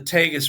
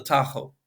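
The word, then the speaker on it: Tajo: Iberian peninsula's longest river the tus River we say in English in Spanish it's called the Taho it runs just south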